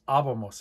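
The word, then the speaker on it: íbamos: Well, if a word ends in N, S, or a vowel, like we have abomos, the stress is supposed to be two vowels back. So it should be on the middle A there. But it's abomos. It breaks the rule. It gets an accent mark.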